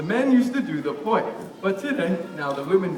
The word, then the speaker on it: poi: Poi is spelled P-O-I.